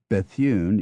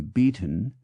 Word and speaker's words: Bethune: into sinair Blackley into Blakeley Blount into blunt Bethune into Beaton cockburn into Coburn Koch into cook Lord H